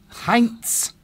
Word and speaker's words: Heinz: You would just probably pronounce it if you were in Germany. Heinz.